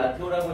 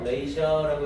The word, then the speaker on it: ratio: 그러면서 in the ratio, 이거 라티오라고 읽으면 안 돼요. ratio라고 해서 비율이라는 뜻이죠.